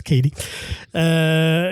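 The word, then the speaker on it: Cady: Ben, t'as Aguri Rice qui reprend justement le rôle de Lindsay Lohan, de Katie, ou de Caddy, mais qu'on prononce Katie, qui est plus connue pour la Betty Brant dans les nouveaux Spider-Man.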